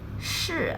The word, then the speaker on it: 是: 四 sounds like the sun or sorry in English, however, 是 has no equivalent, rather like show, but with the tongue curled upwards, very similar to march in American English.